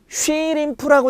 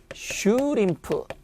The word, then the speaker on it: 슈림프: 플래쉬가 아니라 플래쉬 어말이 왔으니까 쉬림프라고 돼 있죠. 그런데 봅시다. 어디 와 있죠? 분명히 뭐 앞에? 자음 앞에 오면은 쉬가 아니라 뭐가 되는 거죠? 슈. 그래서 뭐가 된다? 슈림프.